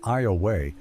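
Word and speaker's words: Ioway: I Theoway, pronounced Iaya, whose native name Bako J means dusty noses, originally inhabited the region now known as Iowa.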